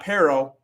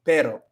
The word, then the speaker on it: pero: So not pero, it's not pero. Don't do that. Don't do that. But it's pero, pero, and it might help to think about it as you're just hitting como el palador de tu boca, encima de tu boca, just como una vez. Pero, do. It almost sounds like it, but it's not a rolling R.